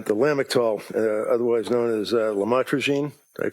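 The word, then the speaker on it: lamotrigine: about the u the lamel otherwise known as lamatroine. Did I pronounce that right? Lamotraine.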